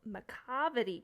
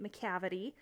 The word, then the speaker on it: Macavity: everyone so we're reading a poem today called Macavity cat I had to restart my entire video because I was pronouncing it Macavity it's macavity it is about a annoying troublesome